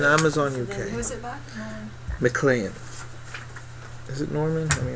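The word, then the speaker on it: Maclean: the movie Norman who mlan mlan mlan M mlan but it's spelled it's spelled yeah right it's spelled m a c l e a n like clean ma clean the we all right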